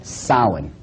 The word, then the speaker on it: Samhain: This is properly pronounced in the ancient Gaelic as Samhain.